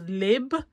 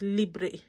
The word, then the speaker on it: Libre: you pronounce it and she said it's a bug bear that she hates it when people pronounce it as lib that is actually libre so it's libri so why is cell